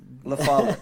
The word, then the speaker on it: LaFollette: LaFollette, right? LaFollette.